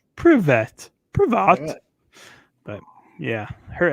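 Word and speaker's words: Привет: So I don't even know how to say it, but it's Privet.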